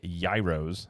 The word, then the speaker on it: gyro: I think I said, is it gyros? No. How do you say it? It's gyro. Gyros, whatever. I say gyros because I'm from the Midwest. It is definitely a gyro.